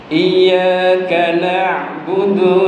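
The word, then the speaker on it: إياك نعبد: Di situ ada tasjid. Iya, ada penekanan. Iyyaka na'budu wa iyyaka nasta'in. Ketika kita membaca dengan tasjid, itu kita benar dalam membacanya. Tapi kita mungkin ada orang yang membacanya tidak pakai tasjid. Iyyaka na'budu wa iyyaka nasta'in. Itu maknanya beda lagi.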